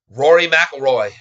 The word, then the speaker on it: Rory McIlroy: Pronounce McElroy. Thank you. Rory McIlroy.